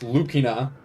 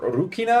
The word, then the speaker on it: Lucina: one of them's Lucina it's pronounced lukina or urukina I think technically because R and L are kind of interchangeable as well that is one of